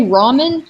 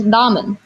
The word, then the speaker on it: ramen: Like a Japanese R sound. Like if you say ramen, you're saying it wrong, technically. Yeah. It's ramen. You put your tongue where you say a D, but then say an L. That's a Japanese R. Ramen, like that.